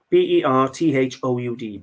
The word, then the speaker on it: Berthoud: very very good um French name I can't pronounce it uh be thought Berthoud earthhound no Berthoud b-e-r-t-h-o-u-d Berthoud anyway they've been going since 1750.